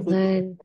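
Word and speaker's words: خذوا: Khudu bacanya khuzu khuzu tak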